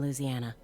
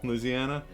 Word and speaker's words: Louisiana: from Louisiana in general given that she actually pronounces the state's name right which almost no one does unless they're from Louisiana Louisiana what did it say yeah with no emphasis on the eye Louisiana investigate the Clark